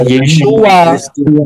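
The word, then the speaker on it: ישוע: Karena yod, shin, waw, ayin itu bacanya, pronounce-nya, pengucapannya adalah Yeshua.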